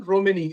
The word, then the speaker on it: Romene: Romini, is that how it's Yeah, pronounced?